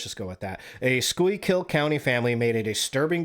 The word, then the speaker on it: Schuylkill: School, Schuylkill County, Schuylkill. Yeah, that's as close as I'm going to get, so let's just go with that. A Schuylkill County family made a disturbing discovery when they decided to insulate their home.